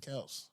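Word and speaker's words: Kelce: like no it's pronounced Kel all right next one wait you you trying to get me to cut hold on it says according to their father Ed Kel's Kelsey it's pronounced one syllable kelse however tired of correcting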